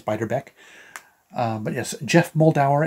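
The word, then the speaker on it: Beiderbecke: tribute album to bixbyderbeck I think that's how you pronounce it I thought it was beater back but I think it's biter Beck uh but yes Jeff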